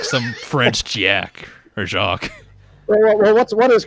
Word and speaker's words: Jacques: You keep calling Jack like some French Jack or Jacques. Well, what is correct? Is it Jack or is it Jacques? It is Jacques.